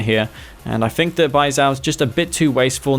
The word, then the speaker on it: Baizhao: Or have I been saying it wrong this whole time? No, it's actually Baizhao, yeah.